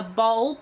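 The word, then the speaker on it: boll: that comes out and that is the correct pronunciation a bowl b o double l um they come out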